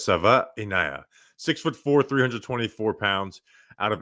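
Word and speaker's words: Savaiinaea: I I looked at the pronunciation. It looks like Savania, but it's Sava Inaya.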